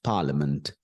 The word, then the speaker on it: parliament: and there is M so that is parament Parliament l l l l it is L it's